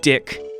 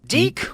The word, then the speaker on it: DiC: of children's shows named Dick had the license to Inspector Gadget back in the 2000s. Yeah, I know it's pronounced Deek or D-I-C, but what kind of